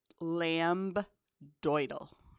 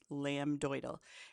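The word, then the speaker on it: lambdoid: to pronounce in class lamb doal okay so there is a b and a d lamb doal and that's where the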